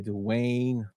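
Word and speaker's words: Duwayne: puffed Wim 1994 is Little Giants directed by Dwayne dunman that the way he pronounces he spells his name as great is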